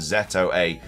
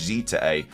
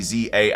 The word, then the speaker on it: Z-A: mistaken in the Japanese it should be pronounced out loud as z a so probably in English Z to A again we also we always say Za a out loud but it should probably be Z through and actually the Z